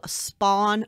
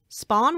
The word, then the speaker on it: Spahn: This place was called Spahn Ranch, and Spahn is spelled S-P-A-H-N.